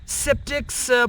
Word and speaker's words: skeptics: Then skeptics point out that, so people who are skeptical or skeptical, we also say C is silent.